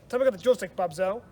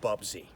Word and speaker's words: Bubsy: French use xenophobic bastard bobzo it's pronounced Bubsy and I ain't ever